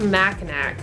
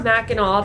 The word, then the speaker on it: Mackinac: and explore the Fort Mac Mac or Mackinac depending on how you want to pronounce it both pronunciations are correct according to the locals that live in the area so no matter how